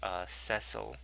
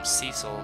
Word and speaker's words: Cecil: On that note, technically the protagonist's name is pronounced Cecil, but I grew up calling him Cecil, so that sounds weird to me.